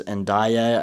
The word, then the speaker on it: Ndiaye: winger, but the priority at the moment is Ndiaye.